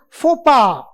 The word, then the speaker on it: faux pas: Next is again a French word which is pronounced as faux pas.